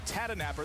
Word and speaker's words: Tahdooahnippah: on james brian cook tata napper that is how you pronounce it native american surname for